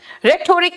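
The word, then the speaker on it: rhetoric: आया नेक्स्ट आओ रिटोरिक रिटोरिक में बेटा एच यहां पे साइलेंट है रिटोरिक होते हैं आप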